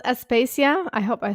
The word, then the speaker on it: Aspasia: No, you know, actually, it's called Aspacia. Everybody does that. I know. Okay, that's okay. I feel like I should have like a little like, you know, instruction on how to pronounce it. No, everyone says that it's it's it's a Greek woman's name, but it's not very common, you know.